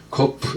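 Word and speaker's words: ק: 코프 요거는 이제 달리 타쿰 할 때 혹은 뭐 코프라고도 발음하고, 그래서 이건 두 글자 합성을 했습니다.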